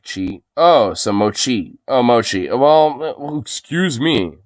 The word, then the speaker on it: mochi: Moki and just period and he's in the moky donuts oh my God holy